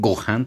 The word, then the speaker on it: Gohan: refieres a songoján bien aquí si dicen Gohan tal cual como debe ser pronunciado con la H que suena como j y si bien es